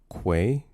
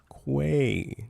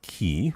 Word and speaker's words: quay: Quay. Not key. I don't know who says key.